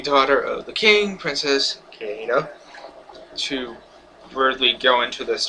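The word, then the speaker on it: Kida: Kieda, I think is how you pronounce it. Yeah, Kieda.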